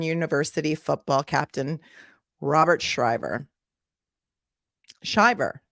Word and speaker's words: Shiver: Shiver, not Shriver. I keep getting them confused with Maria Shriver, but it's not. It's Shiver, but it's spelled like shiver.